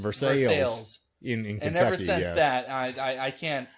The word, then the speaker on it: Versailles: since someone told me that versailles spelled you know french ways over s a s-a-i-l-l-e-s is pronounced versus sales and ever since that